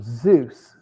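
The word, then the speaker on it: Xeus: it was called um Zeus spelled with an x x e u s you can look it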